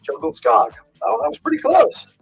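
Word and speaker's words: Djungelskog: I don't know but jungle skog is pronounced jungle scog oh that was pretty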